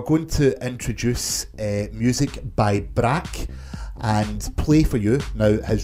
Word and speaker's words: BRRAK: If you want to hear more, search for Brack on SoundCloud. That's spelled BRRAK.